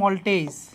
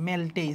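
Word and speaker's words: maltase: আসো তারপরে এটা হচ্ছে মল্টেজ মল্টেজ ঠিক আছে ইংলিশে হবে এরকম বানানটা মেলটেজ যদিও উচ্চারণটা হচ্ছে মল্টেজ ঠিক আছে তাহলে আমাদের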